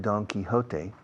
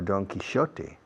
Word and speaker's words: Don Quixote: In English, don't say the Quixote. People don't understand you. I read Don Quixote, or Don Quixote, the British say.